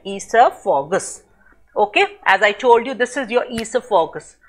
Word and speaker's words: esophagus: Many of you must be reading it oesophagus. No, the correct pronunciation of this word, please listen very carefully.